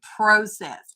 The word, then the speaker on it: process: It's actually the correct pronunciation should be process, because PRO is pro. I don't know how Americans ever came up. I'm an American, y'all. I don't know how we ever came up with pra.